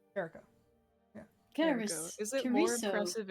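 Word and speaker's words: Kerio: would you assume you intended that to be pronounced Caro yeah is it more impressive in here than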